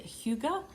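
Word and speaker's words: hygge: i did just watch last night and you pronounce it hugo and it's the hugo stitcher but it's it's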